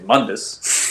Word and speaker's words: Mundus: it by the way I shouldn't say well just actually say Mundus because that's how they pronounce his name is reboot mundus when